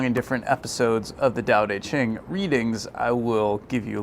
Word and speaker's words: Tao Te Ching: I know it's spelled with a T, but it's actually pronounced with a D. For some reason, I'm not quite sure why. Anyways, this book, the Tao Te Ching, has been with me